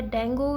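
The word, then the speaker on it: dengue: साथ जो कि है डेंगू या डेंगी से रिलेटेड जो भी आप इसको प्रोनाउंस करते हो इच्छा अनुसार बोल सकते हो ठीक है नेशनल डेंगी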